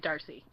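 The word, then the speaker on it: D'Arcy: this weekend they James is it Darcy is that how you say it I feel like it's Darcy okay Darcy from so he plays the apostrophe is silent the apostrophy silent that's very confusing um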